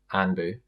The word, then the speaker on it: Anpu: So for example, with my name, Anpu, it's spelt A-N-P-U. But in my notepad, if someone was called Anpu, I'd write A-N-B-O-O because I remember it as Anpu.